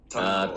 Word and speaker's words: Tangaroa: Weaponry album coming out very soon, which is pronounced Tangaroa. Did I say that correctly? Tangaroa.